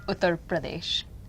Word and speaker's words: Uttar Pradesh: try to pronounce it. Say it one more time. Uttar Pradesh. Uttar Pradesh.